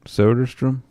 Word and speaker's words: Soderstrom: Soderstrom. Tyler Sodestrom.